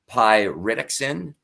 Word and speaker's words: pyridoxine: vitamins and also the B6, which is it's pronounced pyridoxine.